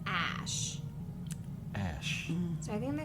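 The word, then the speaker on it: Æ: I think he said Ash it's pronounced the the letter X and then the AE is pronounced Ash Ash so I think they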